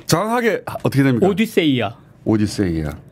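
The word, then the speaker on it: Ὀδύσσεια: 오디세이아.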